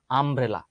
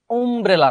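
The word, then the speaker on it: umbrella: আমব্রেলার উচ্চারণটা কিন্তু এর মতো হয়ে গেছে না, আমব্রেলা। আমব্রেলা উচ্চারণ আসলে উমব্রেলা না, তবে ইউ এর মতো হলে উমব্রেলা হয়ে যায়।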